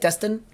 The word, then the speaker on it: Destin: Destin?